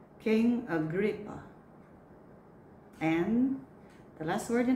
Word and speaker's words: Agrippa: This word can be a noun or a verb, but the same pronunciation. The word is dispute. Dispute. Next word. Uproar. Uproar. Next. Go. King Agrippa. King Agrippa.